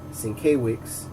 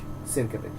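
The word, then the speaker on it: Sienkiewicz: point of interest everybody my buddy used to pronounce it st. K weeks I used to pronounce it cycle weeks and I actually got to meet the man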